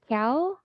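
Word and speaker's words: Kyaw: Kiao. Sorry, I'm normally called by my first name, so I actually it's pronounced Joe.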